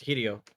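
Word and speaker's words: Hideo: do you say his first name properly it's hiio right hiio I'd have to look at it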